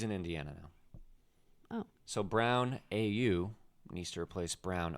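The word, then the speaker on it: Braun: a guy named Christian Brown it's spelled b r Au U n but he says it's brown not Bron huh and he had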